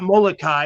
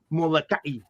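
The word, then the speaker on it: Molokaʻi: Subtle difference, and it's not it's not Molokai, it's Molokai.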